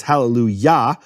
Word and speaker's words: hallelujah: because of that is the Kamat of yah with ya as always the emphasized syllable its hallelujah that then shifts to